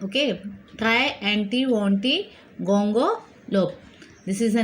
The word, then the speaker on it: Triantiwontigongolope: Today we will start with a new lesson, Unit 2, lesson number 9, the try, anti, wanty, gonga, lope. Okay, this word is very difficult to be pronounced, but keep on trying to say.